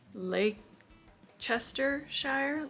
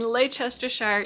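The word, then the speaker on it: Leicestershire: uh Lake Chester Shire Lake Chester Shire England strength I swear to God there's 150,000 ways to mispronounce that and you missed every one of them you missed every one of them so in Lester Shire England in 1790 the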